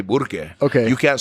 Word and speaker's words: Burque: That's why we say Burque. You know that, right? That's Burque is the acknowledgement of the R that was removed by the Pachucos. It's all a resistance movement. That's why they say Burque.